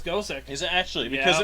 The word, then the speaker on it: Gosick: is it's the way a Japanese person would pronounce Gothic. Also, I thought it was Gothic, not Gosick. No, it's Gosick. Is it actually? Because Yeah. it makes more sense if they're trying to pronounce Gothic.